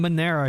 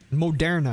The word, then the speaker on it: Moderna: So weekly chart on Monera here, right? Moderna, excuse me.